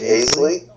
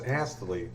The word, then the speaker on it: Astley: Rick Astley? Yes. What about him? How do you pronounce his name? I just did. No, it's Astley. A-S-T-L-E-Y.